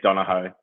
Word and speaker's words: Donohoe: It's To me, it's Donohoe. That's just Donohoe. how I've always pronounced it, how it's spelled.